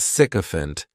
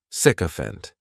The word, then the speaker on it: sycophant: go to the doctor the next noun is sycophant and this noun has three syllables and the stress is on on that